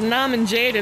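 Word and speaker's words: Norman Jayden: So the reason I said Nuh-min Jaydun is because of the way he pronounces his own name. Please step back. Agent Nuh-min Jaydun.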